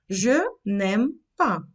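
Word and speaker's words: n'aime pas: Ми не будемо вимовляти н. Ми будемо вимовляти цей н разом з наступним словом. Немпа.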